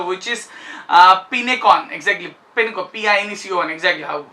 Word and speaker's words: Pinecone: सकते हो, which is Pinecon, exactly Pinecon, exactly. Hopefully it is pronounced like this, Pinecon or Pincon or something like that.